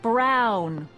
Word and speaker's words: Brown: bill to a t that's EMT Brown rhymes with clown which I'm beginning to